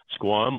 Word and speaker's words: Squam: So Acadia, like Acadia Park in Maine, Squam, like Squam Lake in New Hampshire, and .com.